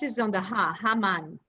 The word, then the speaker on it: Haman: Actually, and I know that we say Haman, right? But it's Haman.